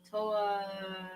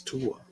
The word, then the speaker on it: Tua: Toa. Well, sure, you got the first name wrong, so that's gonna. So that tells you where that. How did she say it? Toa? Toa Loa. It's Tua.